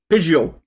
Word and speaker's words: Pidgeot: Pidgeot! The Yeah, T don't, is silent.